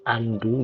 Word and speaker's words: undo: sini ada tulisan undo bahasa bahasa Inggrisnya kita bacanya Andu gitu ya Andu ini artinya